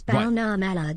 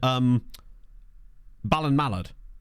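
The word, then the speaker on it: Ballinamallard: Ballina Mallard. It's Balna Mallard Smile.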